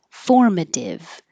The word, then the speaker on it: formative: practice together imagine that formative formative the T changes to a d and then we practice